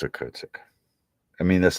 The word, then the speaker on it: Okhotsk: Okhotsk. I think it's Okhotsk.